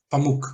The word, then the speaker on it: Pamuk: E eu me lembro que na época que eu estava lendo, Pamuk, que se pronuncia Sim. o nome dele? Pamuk.